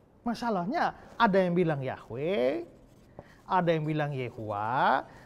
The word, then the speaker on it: Yahweh: Makanya kita kenal nama Tuhan itu kita bilang Yahweh. Itu bacanya. Tapi kalau tulisnya YHWH, Yod He Waw He.